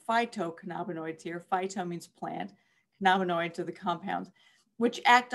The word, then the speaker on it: cannabinoids: So another term to learn the pronunciation of is cannabinoids. So THC and CBD are both considered what's called cannabinoids.